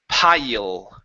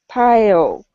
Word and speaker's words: pile: So what you're doing is you're bringing your lips at the end, pronouncing an oo. You're saying pile. Okay. So with a mirror, when you're practicing your L sounds, if you're ending like this, it's wrong.